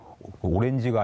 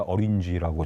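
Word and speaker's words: orange: 그 뭐 다 기억하실지 모르겠지만 한 장관님도 오렌지가 아니라 어린지라고 정확하게 발음해 주셨던 바로 그때입니다.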